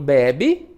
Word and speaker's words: bebe: E em bebe, não, é a penúltima. Então, bebe, bebê.